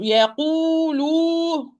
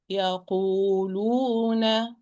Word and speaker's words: يقولون: Do not exaggerate. Oh, not oh wrong. Oh, wrong. It's oh. So يقولون. It's يقولون.